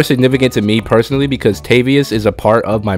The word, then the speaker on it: Tavius: easier to remember pronounce some people may call me Tobias hope not I would prefer tavius for tave like t